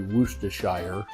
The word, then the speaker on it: Worcestershire: Worcestershire sauce, however you want to pronounce it. It's actually Worcestershire, is how it's supposed to be pronounced, which seems stupid with the way it's written.